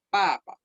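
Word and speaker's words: 爸爸: Nada más tienen que aprender que se dice en cuarto tono la primera sílaba y es con la letra B. Entonces no se expulsa aire diciendo esta porque es la letra B. Es papa. Así se pronuncia.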